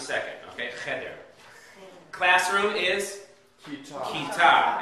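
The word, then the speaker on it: כיתה: Kita. Accent on the second syllable.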